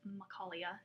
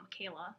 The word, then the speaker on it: Michaela: one uh so yeah it's makalia not Michaela like it looks um so yeah questions